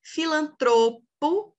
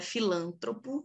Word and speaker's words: filantropo: Filantropo é paroxítona também, não é filântropo, não é filantropô, é filantropo.